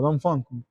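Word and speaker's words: Dongfeng: es fa la tercera es don fun o Don fun como se pronuncia correcto amente la cuarta chatman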